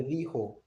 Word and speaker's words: dijo: Because you have to remember that J has an H sound in Spanish, right?